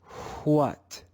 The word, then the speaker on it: what: before in this word the aspirated sound comes before the consonant sound let's read this word together and listen carefully for the aspirated sound that comes before the consonant what what what in this